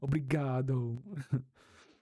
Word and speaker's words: Obrigado: I have to make the O apparent, right? Obrigado.